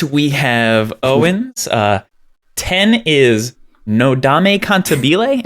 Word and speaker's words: Nodame Cantabile: 10 is Nodame Cantabile. Am I pronouncing that correctly? It looks Italian. Okay. Yeah, it's Nodame Cantabile. Cantabile.